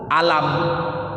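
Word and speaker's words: ألم: Tapi di satu waktu di dalam ejaan huruf yang sama, Rasulullah nggak bilang alif lam mim, tapi langsung bilang alam. Contohnya alam nashrah laka sadrak, tulisannya kan sama, alif lam mim, ada alam.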